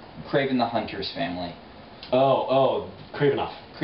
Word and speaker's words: Kravinoff: Someone grabs her mom, they're trying to get her to do this, and it's, how do you pronounce it? The Kranoff, the Craven the Hunter's family. Oh, Kravinoff.